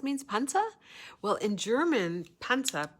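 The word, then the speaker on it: Panzer: panta well in German panta p a n z r panel and I'm pronouncing it the way Germans pronounce it but it's spelled p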